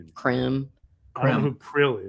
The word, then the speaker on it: Krem: I always want to say his name is Krill, but it's not Krill. It's Krem.